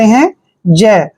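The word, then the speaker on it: has: यहां पर ध्यान रखिए जब भी से पहले ई होता है और एस के ठीक बाद आई होता है तो एस का उच्चारण हम ज करते हैं क्या करते हैं ज और आई को हम ई की मात्रा पढ़ते हैं हैज क्या पढ़ेंगे इसको हैज देखिए टी का उच्चारण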